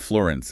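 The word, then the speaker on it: Firenze: of that first book, the narrator does not pronounce the E in his name. So, it's not Florence, it's more like Florence.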